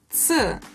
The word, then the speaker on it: ц: Another consonant which is always hard is ц. Ц consists of two sounds pronounced together, t and s. So to say ц, you pronounce t and s together and very close to each other.